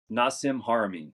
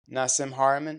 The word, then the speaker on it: Nassim Haramein: Nassim Haramein. Nassim Haramein.